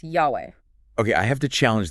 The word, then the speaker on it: Yahweh: The 4 Hebrew letters, the tetragrammaton, often pronounced Yahweh.